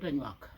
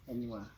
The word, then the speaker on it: Anywaa: Not Anwak, Anwaa. Anywaa. Anwak is an English word. It's their own pronunciation.